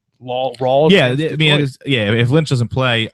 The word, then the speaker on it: Rawls: Is that how you pronounce that name? LAWLS, Laws, is that right? No, it's not. I have him written down somewhere, but yeah, it's as long as he plays, it's Thomas Rawls. Rawls, okay.